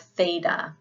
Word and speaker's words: theta: And then we have theta, which is as in thin.